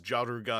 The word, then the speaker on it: Jaruga: clearly see here that Jaruga slash Jargar or slash Jalgwa, or however you want to pronounce what is actually canonically pronounced as Jaruga, because that's what the katakana says.